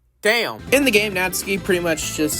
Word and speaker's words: Natsuki: Also, while uh while looking for like a translation, um I found out that Natsky is pronounced like is pronounced like that. Natsky instead of saying Natsuki.